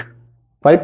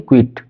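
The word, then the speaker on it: quiet: The poem, Kavita, keeping क्वाइट, keeping क्वाइट, क्वाइट नहीं क्विट, pronounce में भी है ना, पता चला कि वो क्विट वाला कर दिया ना, एकदम बिल्कुल वाला, क्विट कह दिया, जल्दी वाला है ना, छोड़ दो वाला है ना, ठीक है।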